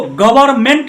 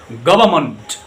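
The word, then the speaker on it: government: अच्छा दोस्तों, इसको गवर्नमेंट नहीं पढ़ना है, इसको पढ़ना है गवर्नमेंट। गवर्नमेंट ये है, मेंट नहीं बोलना है, मंट।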